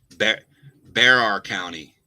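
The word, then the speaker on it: Bexar: Pronounced like bear. Stat Miller always got it wrong too. Oh yeah, you're right. I mispronounced Barracks County. Bear County.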